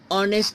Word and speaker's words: honest: okay in umbrella in honest men in honest men it is silent honest yet Cecil in honest don't be confused as it is consonant later but we don't pronounce H it is silent okay that's way an